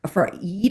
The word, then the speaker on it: Eid: the Muslims doing their for Eid, I think is how it's pronounced, Eid.